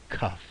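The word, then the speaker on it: כּף: If we see the dot in the middle, then we're going to pronounce that as kaf, like a hard K.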